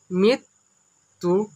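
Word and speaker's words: মৃত্যুঞ্জয়: মৃত্যুরঞ্জন, এটি কিন্তু একটু কঠিন বানান। মৃত্যুরঞ্জন উচ্চারণ হবে মৃত্যুরঞ্জয়। পদ হলো বিশেষণ, কারণ এটির নাম বুঝাইছে।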